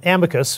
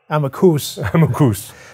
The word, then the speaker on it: amicus: them okay so um amicus is the latin word for i said amicus that's how it's pronounced okay i'm a coos so an amicus curiae